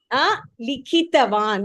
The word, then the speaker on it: likhitavan: Likhitavan. You have to say ikara.